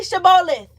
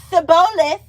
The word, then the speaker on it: shibboleth: They said, "All right, say shabolith." If he said sabolith. Okay. Sabolith. If he said sabolith because he could not pronounce the word correctly.